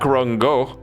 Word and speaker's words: Gogh: Do not correct her if you don't know how it's pronounced, because it's none of those. Van Gogh. Gogh. And he's like, it's Go, actually? It's like, no, it's not. It's also not.